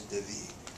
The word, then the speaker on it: David: We might say David, but in Spanish they pronounce it a little bit different. His name is David.